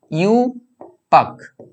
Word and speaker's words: IUPAC: এরকম বলা হয় না এটাকে এরকম বলা হয় ইউপ্যাক ইউ পাক ইউ পাক এইরকম ভাবে বলা হয় ইউ মানে এইভাবে উচ্চারণ করবে আর কি ইউ ওয়াই ও ইউ পাক ইয়েস কে ঠিক আছে এইভাবে উচ্চারণ করা হয় তো দেখতে পাচ্ছ কিভাবে